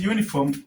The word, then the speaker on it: uniform: How is uniform pronounced? Uniform is pronounced like this: uniform. Okay. When you look at the pronunciation of the word uniform, it has the first letter has a consonant sound.